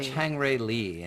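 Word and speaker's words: Chang-rae Lee: two e chang ray whose name is pronounced a little bit differently in english oh he's called chang ray lee that's right yeah so that that's a tough name in english because the that r goes into spelling so people pronounce the r chang tricky tricky and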